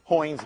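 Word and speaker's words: Heun: care okay if you the shortest name is hoynes method but nobody knows pronounces that correctly so it's horns method uh it's called also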